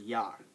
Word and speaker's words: ja: all right on to J J is nothing like the J in our language the word the the sound J um is not what Jay does Jay when you see Jay in German it pronounces a y sound what what what uh y does for English J does for German so so the word